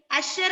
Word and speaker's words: usher: Usher എന്നാണ് അതിന്റെ pronunciation. Usher. The usher at the theater checked our tickets and showed us to our seats. That is usher. The pronunciation is usher.